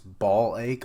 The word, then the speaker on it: Blyke: video today we're doing black I call him black because it's ball ache on the wiki is the pronunciation and I'm like no not doing that so yeah like the